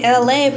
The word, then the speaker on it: Elay: Hey, it's me, Elay, pronounced like LA, like the city.